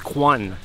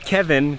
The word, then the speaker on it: Kwan: So that was Kwan, not Kevin, Kwan. He just says Kevin to all the tourists because it's easier to pronounce, but I had to ask him his real name.